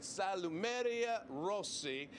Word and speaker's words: Salumeria Rossi: We're at Salumeria Rossi, correct? Did I get that one right? Okay, very good.